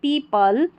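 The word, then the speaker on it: people: Many पीपल पीपल जब भी ऐसे पी एल ई लास्ट में रहेगा तो इसको पल पढ़ना है और इ ओ को यहां पर ई पढ़ा गया है। पीपल liked to बाय।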